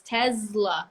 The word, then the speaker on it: Tesla: of those cases like the S before the L because it's Tesla right ask me for